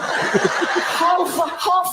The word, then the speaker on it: half: Half a hour. Even half has an L in it.